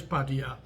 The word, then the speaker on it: Pattaya: The correct pronunciation in Thai is Pattaya.